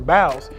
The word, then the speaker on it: boughs: I had a conversation as to whether or not they should be pronounced bows or boughs, but if my Christmas hymnology or Christmas carols are accurate, it should be boughs.